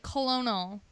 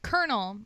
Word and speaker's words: colonel: could like it should be like colonal colonal right colonal that's that's like if you were to pron like read it the way it's spelled out or like pronounce it the way it's spelled it's colonal where's the r like that's a tongue twister yeah right like kernel like I guess maybe that